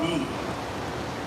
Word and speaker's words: BE: So let's first begin by talking about B. I just want to clarify again. It's spelled B E but the brand is pronounced B.